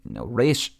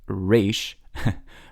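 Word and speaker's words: ריש: Israelis pronounce Resh like a resh, like in the back of their throat, almost like you're saying an L sound of resh. Now, people pronounce it differently all around the world, but in Israel they go resh.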